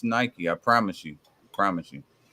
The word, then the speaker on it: Nike: It's pronounced Nike. I promise you. Promise you. Well, Promise you. It's as Nike.